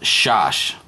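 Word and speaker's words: שש: That's equal to 6, and it's pronounced shash, shash. Very easy to remember. Almost sounds just like 6, shash.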